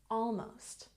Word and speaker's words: almost: school very good and almost has stress on the first syllable almost almost very good the